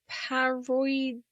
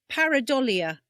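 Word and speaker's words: pareidolia: It's like paridolia. Oh, yes. Yeah, that's it. Read it. Um, spell it out to me. Okay. It's P A R E I D O L I A. Paridolia, is it?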